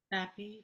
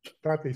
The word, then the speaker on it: Bappe: Bappe, because it rhymes with happy. Bappe, sorry.